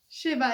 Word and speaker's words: szyba: Shiba, it's a S and Z.